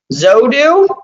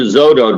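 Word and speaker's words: Xodo: The Adobe or the PDF one is Zodo, I think is how you say it.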